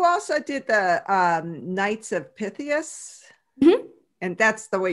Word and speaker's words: Pythias: And you also did the Knights of Pythias. Mm-hmm. And that's the way you pronounce it, correct? Knights of Pythias.